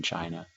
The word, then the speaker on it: Qin: talk about dynasties in China the chin you know the thing that's interesting about them was started by this guy his name is in red chin spelled with q but it's pronounced Qin Shi Huangdi he was